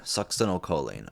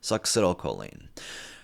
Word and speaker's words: succinylcholine: Succinylcholine. All right. Like suck a dick. Succinylcholine.